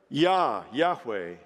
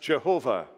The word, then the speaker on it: Yahweh: of the Hebrew word Yahweh, sometimes mispronounced Jehovah.